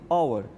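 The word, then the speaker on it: hour: Silent থাকে, যেমন honest, আওয়ার। দেখো আমরা এইচ দিয়ে শুরু করছি কিন্তু উচ্চারণটার প্রোনাউন্সিয়েশনটা স্টার্ট হচ্ছে কিন্তু ও দিয়ে, অনেস্ট। আওয়ার, এইচ দিয়ে ওয়ার্ডটা শুরু হচ্ছে কিন্তু প্রোনাউন্সিয়েশনটা হচ্ছে ও দিয়ে, আওয়ার।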